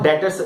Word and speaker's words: debtors: बेटा यहाँ पे बी बिल्कुल साइलेंट होता है, इसको हम डेटर्स रीड करते हैं, ठीक है।